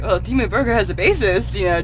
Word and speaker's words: Dimmu Borgir: Dimmu Borgir. Did you see that? I pronounced it correctly.